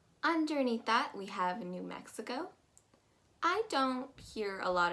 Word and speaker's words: Mexico: mispronounce mexico except for maybe making that e sound a little bit too a y like so you're gonna pronounce it as me say think of that x